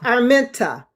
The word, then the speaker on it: Arminta: It's pronounced Arminta. You said mints.